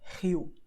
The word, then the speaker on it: Rio: have R at the beginning of the word or double inside the word. For example, when you say Rio, okay, and that's it.